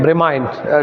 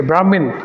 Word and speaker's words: Bramine: It's a quite unique name, BRAM, Bramine. The pronunciation is slightly different. Some people, they say Brahmin.